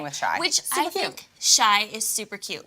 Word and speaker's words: Chi: See, I said Shy earlier and I said it right, and then Tara said Chai, and then she confused me.